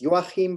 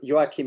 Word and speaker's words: Joachim: The really correct pronunciation is Joachim, but the sound is Joachim. Okay. Does not exist in many languages, so Joachim is perfectly fine.